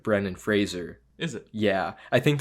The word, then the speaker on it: Brendan Fraser: Frazier Fraser remember like he would apparently everyone pronounce Brendan Fraser Brandon Fraser but it's like Brennan Fraser is it yeah I think there's even videos